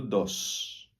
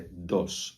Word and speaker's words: dos: no espanhol não acontece é tudo dos não é dois como no português é dos d o s tem